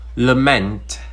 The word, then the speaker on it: lament: Another example, when I say lament, you can hear clearly that I say meant clearly than lament, and as such I rushed over the l and I said meant clearly.